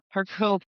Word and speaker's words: Hercule: And that's how you say Hercule Hercule Exactly, right?